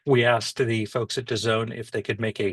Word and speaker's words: DAZN: D A ZN pronounced Done.